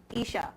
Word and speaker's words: Isha: Ishma, did I pronounce that correctly? Isha. And we just talked about how people pronounce names wrong. Isha. Yes.